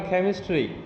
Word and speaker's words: chemistry: हाँ, अब केमिस्ट्री में ये का जो है ना, इसमें का के साथ थोड़ा सा खा मिलाइए तो होगा केमिस्ट्री।